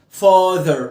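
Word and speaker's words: father: تقولش فاذر وماذر لا فاذر ايه هنا بنطها اه مفخمه وخد بالك ده ده تمام او ده فاذر ما تقولي ذر اللي فوق اعملها تحت فاذر فاذر تحت فاذر مش فاذر فاذر نفس الحكايه ال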